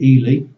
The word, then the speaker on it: Ely: I'm currently living in one of the smallest, not the smallest, but one of the smallest cities in England, which is called Ely. It's spelled E-L-Y.